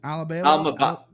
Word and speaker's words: Almabayev: Almabayev.